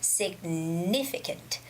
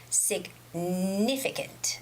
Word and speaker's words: significant: not meg nutmeg also the word significant could be quite hard to pronounce if you do not know the stress of this word so the stress is significant significant okay the stress goes on and i it's significant significant okay and um other